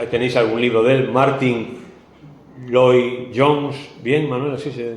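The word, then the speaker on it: Lloyd-Jones: que lo habéis tenéis algún libro del Martín loi Jones bien Manuel así se pronuncia Martín loi Jones acerca de este salmo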